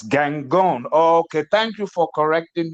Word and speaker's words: Gangone: Gong Bellini is is that is that the name the full pronunciation of the name ah no I was